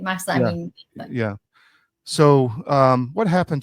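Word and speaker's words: Mahsa: That was uh that happened after the death of Masa Amini. Did I pronounce her name right? Yeah, correctly. Masa.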